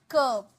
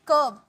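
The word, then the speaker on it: curb: ठीक है रोक लगाना कब इसे कर्ब कर्ब नहीं आर साइलेंट है कब कब रोक लगाना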